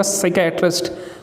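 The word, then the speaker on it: psychiatrist: तो जब आप इसकी प्रोनाउंसिएशन आप इसकी पढ़ेंगे तो सी की आवाज़ देगा, साइकेट्रिस्ट, तो पी नहीं आएगा इसमें।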